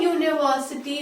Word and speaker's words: university: I will say Kurukshetra has a university of its own, and the reason why I am using a is that U sounds like a consonant Y or U, and before that I